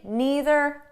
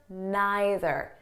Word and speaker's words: neither: Now, before we go any further, I just want you to know that the pronunciation is flexible. So you can say neither, neither, either, either. Okay, there's no difference. I might even change them throughout the video.